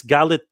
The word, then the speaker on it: Galitzine: it's Galitzine. Galitzine. Nicholas Galitzine? Galitzine. Galitzine. Galitzine. Okay, Galitzine. Galitzine. I'm Yeah. gonna get it right. Okay, Nicholas Galitzine.